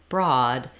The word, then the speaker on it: broad: OA often says o this is an exception where in OA in the word broad it says the ah vowel which we sometimes spell with just letter A just letter o or the letters aw like law so we might say